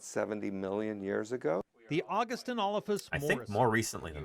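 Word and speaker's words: Augustynolophus: Can you say August? August. Inolphus? Inolphus. Morrissey. Morrissey. So you put it all together, it's Augustinolphus Morrissey.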